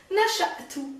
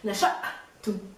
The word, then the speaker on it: نشأت: نشأت, remember there's a stop. نشأت, just like the رئيس.